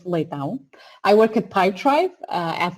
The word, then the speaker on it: Leitão: This is a difficult one to pronounce, but it's Leitão.